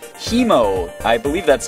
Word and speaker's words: Haemo: exhausted but anyway so he mo it's pronounced like the british way i'm pretty sure like